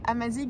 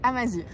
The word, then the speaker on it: Amazigh: On essaye de s'améliorer sur la prononciation des mots en berbère, donc pour la correction, on ne dit pas Amazigh mais Amazir.